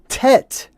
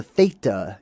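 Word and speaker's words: teth: Um, but it's not pronounced with a hard t. It's more of a th sound. This is also the theta in uh the Greek language.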